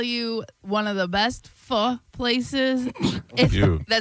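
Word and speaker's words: phở: I can tell you one of the best fu places. That's how you say it. It's not faux, it's um one of the best places.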